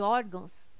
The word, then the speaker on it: órgãos: correto caráter intransferível e órgãos tem sua sílaba tônica na penúltima sílaba são paroxítonas observação Poderia gerar dúvida a palavra órgãos mas ela não termina em ó termina em não banca CESPE é fio